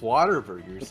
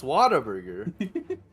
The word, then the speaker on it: Whataburger: really want some Whataburger you're saying it wrong it's Whataburger Whataburger no it's water burgers do they make it out of water no that's all you're saying it wrong it's Whataburger uh looks like I